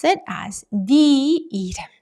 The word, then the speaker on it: 내: 내 sounds almost identical, Korean people kind of unconsciously try to distinguish between the two, and so they usually pronounce 내 as 네 in real life, in spoken form.